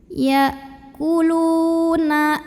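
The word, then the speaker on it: يَأْكُلُونَ: Ya kulu lu matobi'i. Karena ada waw sukun yang didahului baris dhammah. Cara membacanya dipanjangkan lamnya 2 harokat saja. Ya kuluna amwa am.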